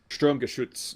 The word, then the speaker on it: Sturmgeschütz: Sturmgeschütz.